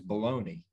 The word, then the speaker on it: bologna: But my least favorite one is baloney in the silent G. Bologna.